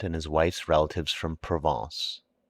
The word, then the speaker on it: Provence: his wife's relatives from provence pronounced provongs he imported officials by